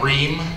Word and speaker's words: Rehm: My name is Rehm. It's pronounced like the air conditioning company, though I get no royalties from them.